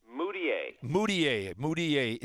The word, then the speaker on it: Mudiay: Now, Emmanuel, how do you pronounce his last name? Mudiay.